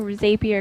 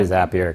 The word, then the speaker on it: Zapier: I like saying Zapier because it rhymes with rapier and it makes me think of like Three Musketeers or something. I say Zapier because it sounds like a ray gun from a sci-fi film.